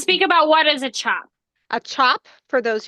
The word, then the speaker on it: tjap: about what is a chop. a chop. For those of you guys who don't know, it is spelled TJAP, I believe, and it is a